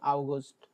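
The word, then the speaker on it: August: হ্যাঁ, যেটাকে অগাস্ট বলি আমরা, ইংরেজিতে যেটা অগাস্ট বলি ওটা বলে আগস্ট, আগস্ট।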